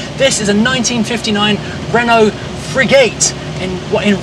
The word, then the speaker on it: Frégate: in the description below this is the Renault frat and this is apparently the correct way to say it because that's how a